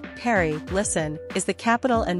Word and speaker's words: Paris: today we will see secret of Paris French pronunciation Perry listen is the capital and most populous city